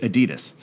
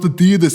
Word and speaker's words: Adidas: right now saying, oh, it's not Adidas, it's pronounced Adidas. Okay, yes, I know, I hear you, but I'm an American, and that's how we say it, okay?